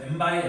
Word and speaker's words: m by n: 그래서 5번에 m 곱하기 n 행렬 이거 곱하기라고 읽는 거 아니라고 그랬어요. 이거 뭐라고 읽는 거예요? 바이라고 읽는 거예요. 그래서 m by n 행렬 이렇게 부르는 거야.